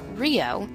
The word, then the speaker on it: RHIO: on patients they share rhio pronounced rio is a regional health